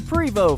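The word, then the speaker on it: Prevost: primo is prev OST the T is silent Cody primo from the province of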